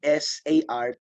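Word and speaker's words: tsar: Z at saka t s a r t z a r the pronunciation is sar no the first letter is silent ang pronunciation yyan silently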